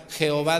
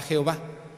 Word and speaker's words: Jehová: pronunciación de y y le puso las palabras la pronunciación como J pero no es J de verdad Jehová debería de ser con y no con j O sea que hizo